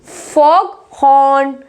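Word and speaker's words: fog horn: जब compound words होते हैं तो जीएच को प्रोनाउंस कर दिया जाता है, जैसे कि big head, फॉग हॉर्न, डॉग house.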